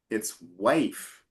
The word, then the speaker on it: wife: Remember in the word wife there's a silent e at the end and that means instead of with wife. So wife. Wife. Exactly. So the e tells you I has to be open not closed.